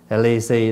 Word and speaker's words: lì xì: chữ là lì xì lì xì đó là mình phát âm theo tiếng Hoa bị gì cái cái